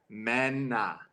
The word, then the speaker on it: Mena: Ever since I was a kid, it's like it's Mena. Mena, not Mina, Mena, not not Mina. Mina. Definitely not Mina.